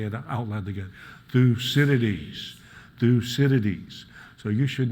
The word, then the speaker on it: Thucydides: So just to make sure we all know how to pronounce his name, let me remind you, it's Thucydides. Thucydides. So let's say it out loud again. Thucydides.